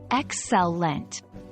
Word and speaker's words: excellent: Break excellent down into its syllables. Excellent. Stress the first syllable, like this: excellent. Try it out loud a few times until it feels natural.